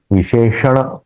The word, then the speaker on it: विशेषण: जब हम लेते हैं मेरा थोड़ा उच्चारण करने में गलती हो गई विशेषण उसको बोलना है विशेषण विशेष्य भाव तो